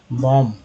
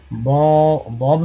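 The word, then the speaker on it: bomb: हैं, या लिखते हैं बी ओ एम बी, क्या पढ़ते हैं, बॉम्ब, तो बॉम्ब, बॉम्ब पढ़ते हैं। बॉम्ब नहीं पढ़ते हैं, बॉब भी नहीं पढ़ते, बॉम्ब पढ़ते हैं, तो बी साइलेंट हो जाता है।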